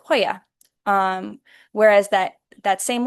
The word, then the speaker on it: joya: It would be represented typically by the letter J, or a jota, and it would be in a word like joya.